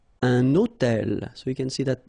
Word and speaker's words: hôtel: So you can see I'm making this little liaison between the two.